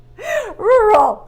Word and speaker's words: rural: Manu had the same feeling true horror horror rural see I remember adding this one so this